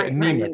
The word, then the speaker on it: Niemiec: My understanding zest, Niemiec, is that how you say his name? The VIA. Yeah, anemic.